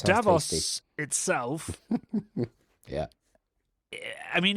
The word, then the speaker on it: Davos: Davos is how they were pronouncing it. Davos.